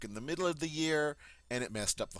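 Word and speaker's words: huit: right eight Ye Ye notice this the H is silent it starts with that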